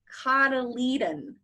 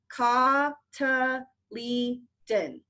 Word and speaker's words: cotyledon: it is called the cotyledon cotyledon everybody say it even though I can't hear you I put this I put the pronunciation down there for you cata leaden I should see everybody's